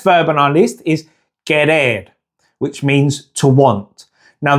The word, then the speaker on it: querer: Okay, so the next verb on our list is querer, which means to want. Now the QU in Spanish is always pronounced like a K sound, not a Q like in English.